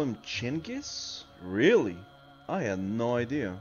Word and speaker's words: Genghis: Oh, Genghis? That's how you say it? That was Genghis. Genghis.